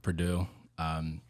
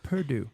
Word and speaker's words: Perdue: But it's at the Perdue. It's spelled Perdue, not like the college. So I was thinking the college. most people do. Yeah. Most people do, but it is French. Most people Purdue.